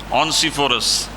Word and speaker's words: ओनेसिफोरस: ओनेसिफोरस का एक और इसका उच्चारण है ओनेसिफोरस का इसका अर्थ यह है कि एक आदमी जो लोगों के लिए दयालुता लाता है।